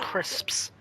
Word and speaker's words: crisps: a pack of crips can you pronounce the s are you a little like say crisps my cousin yeah when